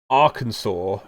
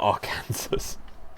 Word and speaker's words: Arkansas: i always forget some of america's it's um arkansas not our cancers oh god yeah so uh crap what was